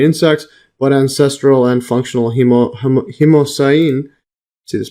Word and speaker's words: hemocyanin: Oxygen transport systems were long thought unnecessary in insects, but ancestral and functional hemocyanin. See this pronunciation?